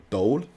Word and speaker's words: Doel: decided yet but my first guest is Dole Is that how you pronounce it it's it's the right pronunciation for